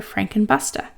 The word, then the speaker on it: Frank and Buster: they call each other frank and busta and jude and i called them frankenbuster it's spelled frankenbuster but they say frank and busta and you know buster